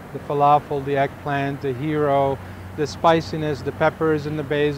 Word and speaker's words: gyro: basically a year wrap it's pronounced hero hero or guo depending on what region uh so this is